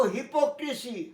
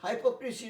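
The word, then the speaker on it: hypocrisy: মনে রেখো হিপোক্রিসি, হাইপোক্রিসি নয়।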